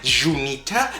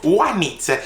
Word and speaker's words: Juanita: Everybody know Juanita, and it's spelled with a J in the front, but that is not Junita, that is Juanita, and it's not jojoba, it is jojoba.